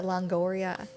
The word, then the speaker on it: Longoria: there's no other way to word her eva longora if i pronounced her name correctly celebrated my birthday today is how you say it yeah longoria was she a part of that women's show